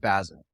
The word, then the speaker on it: Basel: Uh, how do you pronounce it? Basil? Art Basel.